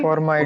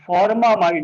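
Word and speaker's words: formamide: फॉर्म एमाइड, फॉर्मामाइड हो जाएगा बेटा, फॉर्मामाइड है ना, Yes, sir. क्योंकि फॉर्म एमाइड, फॉर्म plus एमाइड, सर लिखा फॉर्मामाइड। हुआ है, बस लगा कि प्रोनाउंस अलग होगा।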